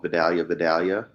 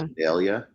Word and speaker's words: Vidalia: I called Vidalia, but it's not. It's Vidalia.